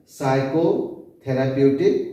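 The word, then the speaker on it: psychotherapeutic: करता है, इसलिए इसको साइकोथेराप्यूटिक ड्रग्स भी कहा जाता है। पी हमारा साइलेंट होता है, साइकोथेराप्यूटिक ड्रग्स।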